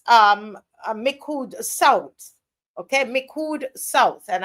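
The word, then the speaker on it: Micoud: So far it's um Mikud South. Okay. Mikud South. And I might be murdering that name. Not but I'm MIC. I think Miku Miku South. I don't think the D is pronounced.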